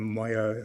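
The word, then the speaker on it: Maaouia: First, article six does not apply to cases concerning the expulsion and then mo that's how you pronounce it against France is cited that is at bundle authorities uh volume 13 page 182 say 152.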